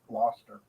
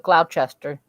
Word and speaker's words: Gloucester: How did she pronounce that? Glouster. Gloucester. This whole time I thought it was Glchester.